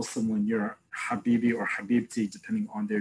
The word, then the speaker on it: habibi: or arabic is um in the hebrew translation will be khabibi the arabic translation will be the pronunciation will be habibi it's the same exact root same exact um almost spelling it's just that in modern arabic is ha which if you know anyone who comes from a jew who comes from a muslim country or arabic speaking country you'll still hear them pronounce it as hat in modern hebrew we